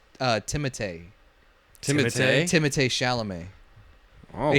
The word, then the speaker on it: Timothée: Apparently, he said in an interview that everyone's been pronouncing his name wrong. It's not Timothy Chalamet. It's Timothée.